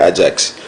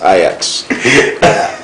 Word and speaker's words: Ajax: Barcelona and not Barcelona because I've met a lot of people who say Ajax it's IX I met some people